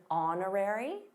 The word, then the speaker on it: honorary: By the way, did you notice the silent h in honorary?